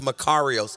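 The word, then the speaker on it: μακάριος: This type of happiness is a Greek word named, it's pronounced Makarios.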